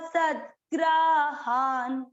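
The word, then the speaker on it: सद्ग्राहान्: हा और न, न के नीचे हलंत है, ग्राहान। तीसरा चरण वापस, मोहात गृहीत्वा सद्ग्राहान।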